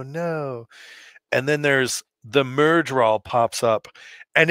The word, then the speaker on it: Myrddraal: Anyway, Myrddraal, pronounced Myrddraal, that's 2 D's and 2 A's, are shadowspawn, described as muscular and serpent quick.